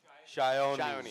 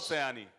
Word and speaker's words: Sayani: Shayoni. Sayoni. Okay, great. It's not Sayani.